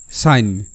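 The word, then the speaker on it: sign: আমরা যদি ধরি তাহলে এস আই জি এন এর উচ্চারণটা হবে সাইন সাইন মানে সিগনেচার সাইন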